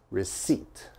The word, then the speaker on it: receipt: the p all right that p is silent okay we do not pronounce the p so it's receipt receipt